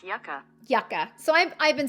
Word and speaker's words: Yucca: Hey Google, how do I pronounce Y-U-C-C-A? That's pronounced yucca. Yucca.